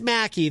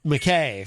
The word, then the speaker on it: Mackie: no no it's it's it's mackie the joke is kkk mac ezg pronounces it mckay for some reason i said mckay too no you said i said macky mackey mackie yeah easy g pronounces it mckay i don't know why like mac and cheese mac mackie maybe if i bought